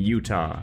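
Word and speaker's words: Jutah: play as a character named Utah like the state but with a silent Jay at the front Utah is a genetically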